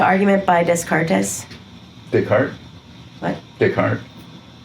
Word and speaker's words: Descartes: Descartes. Descartes. That's how it's pronounced.